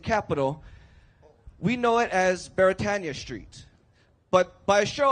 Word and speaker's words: Beretania: But Beretania is actually a Hawaiian word, and being a Hawaiian word, it is pronounced properly as Beretania. So repeat after me, Beretania.